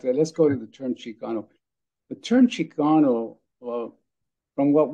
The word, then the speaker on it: Chicano: people think that it's it's a variation of Mexicano but perhaps renounced with a kind of indigenous pronunciation so that comes out Chicano Chicano so the term chigano